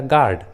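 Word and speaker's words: guard: पहले है, इसलिए रूल के अनुसार यू का उच्चारण नहीं किया गया है, गिटार एंड गाइडेंस। उसी तरह गार्ड, गार्ड।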